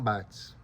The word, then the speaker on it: Barthes: grande pensador chamado Roland Barthes. Sabe que em francês é raro se pronunciar o S. Ó. O S geralmente fica mudo e é contextual.